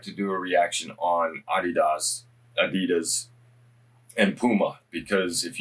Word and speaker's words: adidas: sounds weird to me to say the us pronunciation is adidas i i try as much as possible to pronounce words as close to the original pronunciation as i can adidas is the real pronunciation for many americans it's